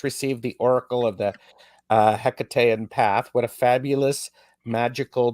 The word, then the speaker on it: Hecate: Yeah, so I mean, I say Hekate, or generally sort of something that's similar intonation. Obviously, the ancient Greek version, there was no hard H, and so it was more like a Hekate sort of sound.